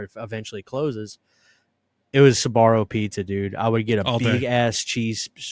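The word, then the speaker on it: Sbarro: And my mind immediately went to Zabarro pizza. Is that how you say it? Sabarro. Sabarro, dude.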